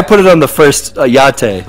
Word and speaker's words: YATTE: Or I put it on the first YATTE, like it's like a latte with a Y.